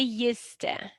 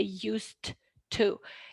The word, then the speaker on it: used to: So the silent d in the pronunciation of used to, we say used to. Yes, so we don't say used to, used to pronunciation.